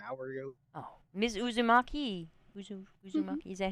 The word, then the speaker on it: Uzumaki: Uzumaki, is that how you pronounce it?